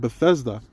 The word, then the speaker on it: Bethesda: You know, there's a there's a body of water in Bethesda. Oh, that's how you say it. Bethesda.